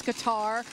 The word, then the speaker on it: Qatar: talking with chip earlier there's been some debate over the pronunciation whether it's guitar or cutter but talking with Boeing officials that is indeed cutter and I've always heard